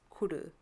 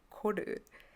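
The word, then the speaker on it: கொடு: Now, I always thought the word for give in Tamil was kudu, not kodu. But I've been saying it wrong all my life. It's actually kodu.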